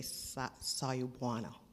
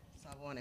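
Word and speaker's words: Sawubona: I think I would say Sayubwana. It means, say it. Who knows it? All right, say it. Who knows it? Then you know what it means. Who knows it? Sayubwana.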